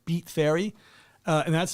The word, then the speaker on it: Beat Fairy: events promotion company called beat fairy uh and that's spelled b-e-a-t f-a-i-r-y beat fair because somebody was like is it like beats i'm like no it's like b-e-t no not beats i beat fairy dot